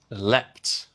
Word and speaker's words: leapt: Second, leapt. Leapt is the past participle of leap in British English and it's the same pattern as sleep and slept or dream and dreamt.